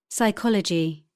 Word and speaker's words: psychology: P, psychic, psychiatry, pneumatic, receipt, pseudonym, psychology.